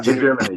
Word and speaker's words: hegemony: Yeah, hegemony.